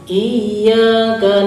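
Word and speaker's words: إياك: Iya itu harus ada tasydid. Bagaimana pengucapan tasydid? Itu harus dilangsungkan sama ditahan dulu. Iya, iya. Nah, bagaimana kalau kita ini? Iya, iya, berarti kurang tasydid. Nah, harus ada apa? Langsungkan.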